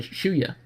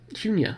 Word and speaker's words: Shunya: gate of chaos numeron uh shuya Juna I think is how you say it anyway this is the